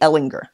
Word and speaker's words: Ehlinger: is really oriented around Sam hard G Ehlinger and again Kenny came